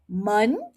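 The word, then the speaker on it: 门: men men Okay. Now, let's look at the meaning. men second tone it means door men fourth tone it means boring Hear that?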